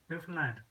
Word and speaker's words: Newfoundland: How do you say it? Newfoundland. Just like understand.